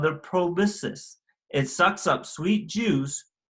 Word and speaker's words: proboscis: mouth is called the proboscis it sucks up sweet juice called nectar from flowers and is actually pronounced pro basis I can use right